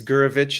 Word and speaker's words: Gurevich: the uh capture there but last name is guravich it's spelled g-u-r-e-v-i-c-h okay yeah where does it come